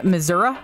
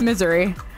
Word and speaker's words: Missouri: I said it wrong all the time. I'd always be like, yeah, in Missouri. And they're like, no, it's Missouri. And I'm like, no, that's not it. It's not how it's spelled.